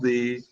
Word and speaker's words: the: Today we have only one definite article, the. Okay, it's pronounced as the or the, depending upon whether it is followed by a vowel or a consonant.